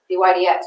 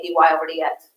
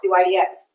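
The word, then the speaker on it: dy/dx: over dx is pronounced d y d x we do not say d y over d x you two take the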